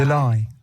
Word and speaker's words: belie: আমি উচ্চারণটা ভ্যালি বলছিলাম বাট এটা উচ্চারণ হচ্ছে বিলাই, Belie. Belie. বিলাই, কারণ BELIE বিলাই, Belie.